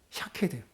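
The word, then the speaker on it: שקד: 무슨 말이냐면 살구나무가 히브리어로 사케드라고 읽어요. 샤케드. 근데 지켜보고 있다라는 동사가 히브리어로 샤카드라고 읽습니다. 자음은 똑같고 모음만 달라요.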